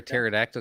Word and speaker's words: pterodactyl: can't you hear a pterodactyl go to the bathroom why the p is silent well you know that